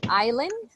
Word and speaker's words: island: the same family now the pronunciation for this one is island island Island like this island in Island the S doesn't have a sound right Island records and